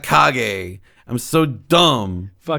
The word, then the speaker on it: kage: i thought it was shadow cage jutsu not shadow kage man i'm done i was